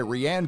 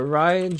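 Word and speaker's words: Rian: of all time the Last Jedi directed by rhianne Johnson say his name normal say it the way it's it's pronounced Am I Wrong is it pronounced differently uh Ryan Johnson pronunciation okay let's watch this all right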